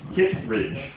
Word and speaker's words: Kittredge: Kittredge. 2 syllables. Kittredge.